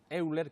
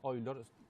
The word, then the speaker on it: Euler: Después el siglo II abarca en aquellos que nacieron en el siglo XVIII y tenemos matemáticos famosos como Euler, que es el nombre castellanizado, que se pronuncia Euler.